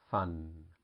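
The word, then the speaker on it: ฟัน: has a lady boy f with the a vow and the nail boots it has no tone and it's pronounced fun and that means a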